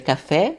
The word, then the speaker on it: café: Em português a gente vai ler café, né? Mas em francês toda vez que vocês virem um acento agudo sobre o e vai ter sempre o som de e café.